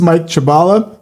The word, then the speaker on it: Mike Chabala: But everybody, this is Mike Chabala. I I pronounced it right.